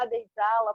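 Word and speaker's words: Abya Yala: Se escreve Abya e Yala, né? A-B-Y-A, espaço Y-A-L-A. Mas a gente fala Abya e Jala porque assim as nossas irmãs da Colômbia me ensinaram e elas, em honra, eu fui aprender isso com elas. eu pronuncio da forma como elas me disseram.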